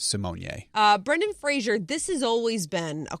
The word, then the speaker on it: Fraser: jerk about it but it's Fraser Fraser not Brendan Frazier Brendan Fraser not Kelsey Grammer Frazier it's Brendan Fraser oh with the Adele